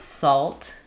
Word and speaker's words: salt: Um, I actually do say the L in these words.